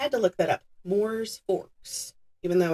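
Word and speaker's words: Mooers Forks: He then moved to Moors Forks in New York. I had to look that up. Moors Forks, even though it's spelled Mowers.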